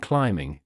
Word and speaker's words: climbing: For instance, B is silent in plumber and climbing, GN in design and campaign.